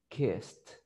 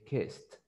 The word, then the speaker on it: kissed: In the past, the ED is going to be pronounced like a T. So you will say kissed, kissed, kissed. You don't have to say kissed. Yes, you say kissed.